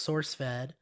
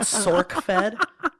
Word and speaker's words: SourceFed: say it wrong because it's actually source fed not sork fed sauerk sword fed when